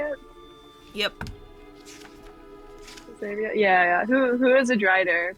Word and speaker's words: Xavier: oh yeah, there's like this person named, like, Xavier, is that how you say it? Yep. Xavier?